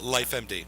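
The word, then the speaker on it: LifeMD: little bit about life med that's how you pronounce I finish life empty yes that's correct this is your company it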